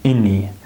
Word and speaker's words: any: So listen again, have any, have any. I'll see if we have any. This A becomes reduced, right? Ini, not any, ini. The schwa sound, ini, have any.